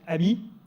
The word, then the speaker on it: AMI: we prefer Ami and we pronounce it Ami which in French means friend I think it's appropriate